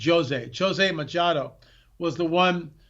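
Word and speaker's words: José: and by the way, it's spelled Jose like Spanish-speaking people would pronounce it, Jose, but in Portuguese it's pronounced Jose.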